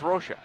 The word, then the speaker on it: Rocha: the midfield Tony Rocha according to the pronunciation guy when he played for Vancouver it was Rocha what do you what